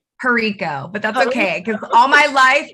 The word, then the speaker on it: Herico: n e space v and that was jericho did i say pronounce your last name correct perico but that's okay because all my life all